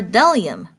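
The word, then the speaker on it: bdellium: B is for delium. We doubt anyone knows what delium is, but it's the only word dumb enough to begin with a silent B.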